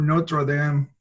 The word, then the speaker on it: Notre Dame: did he was for Notre Dame and no pronouncing that the English Way the Catholic University basic